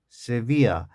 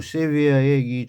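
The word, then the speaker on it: Sevilla: 옛 세비아. 스페인에 보면 세비아라는 곳이 있어요. 발음이요 세비에 세비아요 정도로 하는데.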